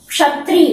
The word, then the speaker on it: क्षत्रिय: जैसे क्षत्रिय बोलते हैं, छत्री नहीं बोलते, क्या बोलेंगे, क्षत्रिय।